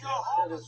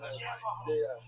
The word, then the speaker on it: Jehovah: Jehovah's Witness, not Javaho.